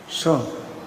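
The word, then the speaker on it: soon: Begitu B-O-O-K, dibacanya book. S-O-O-N, sun.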